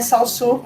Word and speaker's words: Saussure: Então, para mim, é Saussure, com até um certo biquinho no fundo, de final, mas enfim, é isso.